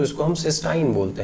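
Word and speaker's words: cystine: यहाँ बना हुआ है इसको हम सिस्टाइन बोल देते हैं। देख रहे हैं स्पेलिंग में अंतर है, सिस्टीन में CYSTEINE था,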